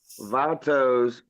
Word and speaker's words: Vatos: Vatos kind of rhymes with tacos.